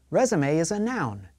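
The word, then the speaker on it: résumé: Resume is a noun. It is something you send to employers when you are looking for a job. The final E is an A sound.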